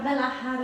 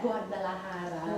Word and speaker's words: Guadalajara: Guadalajara. How do you say it? Guadalajara.